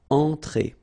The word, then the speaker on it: entrée: Okay, remember, well, technically this final here is not pronounced, so phonetically it doesn't exist, so it's et. Okay, entrée.